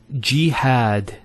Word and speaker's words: jihad: followed by the Elif next word is jihad so we have here G that's the first syllable and then had jihad so you notice here we have a Fatah on the ha followed by the Aleph and that gives the elongation of the a sound next word Ibrahim so